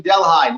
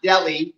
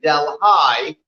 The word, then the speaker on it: Delhi: today delaware county in delhi not delhi we are in delhi that's how you pronounce it here in new york state that's where we are